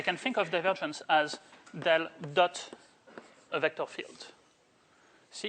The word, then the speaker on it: del: So, this guy usually pronounced as del rather than as, pointed triangle going downwards or something like that.